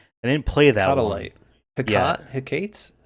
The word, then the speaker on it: Hecate: Hecate. It's not Hecate. It's not Hecate. It's definitely 3 syllables.